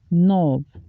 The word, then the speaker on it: knob: he brought this credit upon Parliament silent k knob no she turned the knob by the door